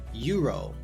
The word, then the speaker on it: euro: We have a university, a euro. In both of these instances, the vowel U and the vowel E makes the U sound, a consonant sound.